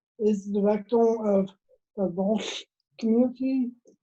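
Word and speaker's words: L'Arche: I've been working with the community that my dad is involved with, who is the director of the Walsh community. It's spelled capital L apostrophe capital A-R-C-H-E.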